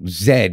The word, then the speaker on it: zed: So Zed is how it's said.